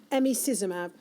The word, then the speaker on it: emicizumab: And then there's a current treatment now, and I've been challenged to get the pronunciation of this right, emicizumab. That's pretty good, yeah.